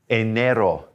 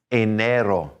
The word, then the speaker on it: enero: all 12 on them but here we go enero enero february febrero febrero in march is marso a